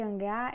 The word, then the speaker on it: hangar: Temos hangar, só que hangar é oxítona, porque vocês perceberam que a força está na última sílaba.